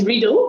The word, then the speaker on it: Riedel: It's Riedel, but it's okay. Riedel, thank you very much, and apologies.